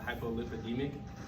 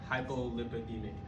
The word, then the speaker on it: hypolipidemic: if you were taking anything because you were hypolipidemic meaning you had low lipid count okay that's